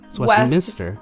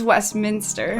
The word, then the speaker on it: Westminster: to steal Eric's question is it Westminster or West Minister West Minister it's Westminster okay very good but it